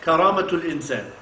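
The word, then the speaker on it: كرامة الإنسان: Karama, in Arabic, if you want to say human dignity, you say karamatul insan.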